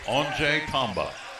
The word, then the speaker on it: Anjay Tamba: Phonetically, it's like the switch off and on. It's on. Anjay Tamba. I've not been pronouncing it right. It's Anjay. Anjay, not on. It's on like light switch is turned on.